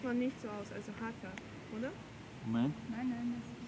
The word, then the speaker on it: Hatha: Man schreibt das auf alle Fälle mit T und da es ein Sanskritwort ist, spricht man dort das auch mit H, TH aus. Mhm. Also hier wirklich hart gesprochen, dieses TH, Hatha Yoga aus.